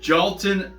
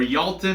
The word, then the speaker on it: Jailton: Next, we've got the light heavyweight fight between Danilo Marquez and this beast of a man, Jailton or Jailton. I think the J is pronounced like either silent or, anyway, we'll call him Jailton Almeida because he speaks Portuguese, Brazilian, so native tongue is Portuguese.